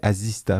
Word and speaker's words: Asista: Parce que moi, je croyais qu'il y avait Assistant. 2 S. C'est A-S-I-S-T. C'est Azista, vraiment.